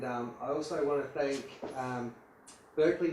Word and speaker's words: Berkeley: And I also want to thank Berkeley Nest Agencies, which is pronounced Barclay Nest Agencies, for allowing us to use their fabulous location.